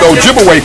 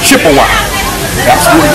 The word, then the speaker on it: Ojibwe: tried and of course they corrupted the pronunciation of Ojibwe people to Chippewa so Chippewa and Ojibwe that's the same people wise the European Corruption of their real name Ojibwe okay so they begin